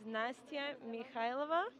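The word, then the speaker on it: Nastya Mikhaylova: your instagram please i'm sure my instagram is nastya mikhailova could you spell that for us i'm sure it's n-a-s-t-y-a that's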